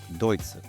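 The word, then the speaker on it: ドイツ: word for Germany and in Japanese it's Deuts. So in the beginning when I came here I was always a bit confused because the word deutsu sounds like the German word deutsch which means German but not Germany.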